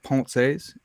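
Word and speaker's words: Pensées: He came on and corrected me on the proper pronunciation of Pensies. It's I don't know if I have it still, but it's like Ponces, Yeah, Ponces. Ponce. And look, I'm an American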